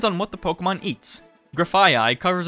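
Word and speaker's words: Grafaiai: oh yeah okay I've seen this graphite graphia that's what that's what it's pronounced still poisoned normal graphia the toxic monkey Pokemon oh I I like uh graphia like the you you know II right you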